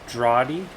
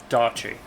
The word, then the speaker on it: Daughtry: useful pop culture knowledge james droughty drought i'm pronouncing that last name wrong oh she's dated joe fair enough daughtry daughtry got it i can say that